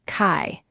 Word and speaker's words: chi: In some practices of medicine, energy is known as chi, pronounced kai.